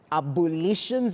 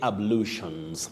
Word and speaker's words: ablutions: intrusive vowel sounds so some people find themselves saying abolutions maybe from the word abolition but that one is strictly ablutions just like ablutions block